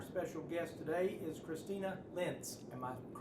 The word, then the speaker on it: Lentz: And our special guest today is Christina Lentz. Am I pronouncing that correct?